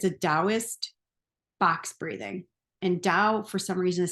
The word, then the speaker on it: Tao: Dost box breathing and Dao for some reason is spelled Tao have no idea why but it's pronounced with a d who knows probably a